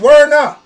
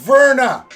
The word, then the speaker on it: Werner: will see do not sawarna do not save werner his name is Steve of Verna okay god damn last for them so damn